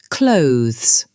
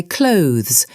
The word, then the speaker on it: clothes: Clothes. Most students say clothes with 2 sounds, but natives say it like clothes, clothes, clothes. 1 smooth sound.